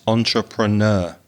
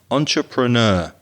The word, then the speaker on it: entrepreneur: little bit carolina that's entrepreneur now it's a difficult word it's a french word but we've anglicized it so we say it in english quite often entrepreneur entrepreneur that's four syllables isn't